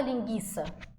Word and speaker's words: linguiça: do G tranquilo agora em linguiça a gente não fala linguiça a gente fala linguiça ou seja esse U aqui gente ele é pronunciado Então nesse caso Aqui